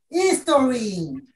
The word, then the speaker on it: history: History. Historia. Historia. History. History. History. Historia. Historia. Recordemos que la H suena como J.